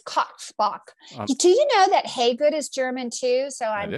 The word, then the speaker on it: Hagood: They say Hagood. No, it's spelled that way, but it's pronounced Hagood. Like, hey, she's good.